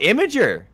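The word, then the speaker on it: Imgur: say imer gonna know oh imager yeah imager yeah yeah no it's imager yeah but like it's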